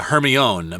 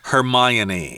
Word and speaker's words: Hermione: name of that girl I kept saying uh Hermione but that's incorrect you're supposed to say Hermione yeah Hermione yeah is